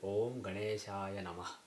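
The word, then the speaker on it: ॐ गणेशाय नमः: So you don't basically remove the A at the end of a word automatically. So when you see a mantra like this, you should pronounce as Om Ganeshaya Namah.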